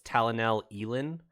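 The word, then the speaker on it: Talenelat'Elin: So in the audiobook, it's a hard E at the end, at the second half of it. So it's Talanel Elin. not Ellen. Oh, So it's okay.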